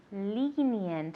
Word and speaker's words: lenient: Lenient. It has a long E sound. Lenient.